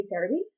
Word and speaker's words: Celebi: Celebi, of course, would be Cerebi. It really didn't change because there's no actual L sound in Japanese that would be an R. Of course, it can be pronounced as an L. It's not. There's no separate character for L and R.